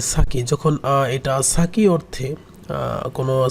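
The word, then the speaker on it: 先: একটা কাঞ্জি ব্যবহৃত হয়, যার উচ্চারণ দুইটা। একটাকে বলা হয় সাকি, এটা উচ্চারণ নর্মালি সাকি, আর একটা উচ্চারণ সেন। সো এই দুইটার উচ্চারণ আছে এখানে। সেন অনেক সময় বলা হয়, অনেক সময় সাকি বলি।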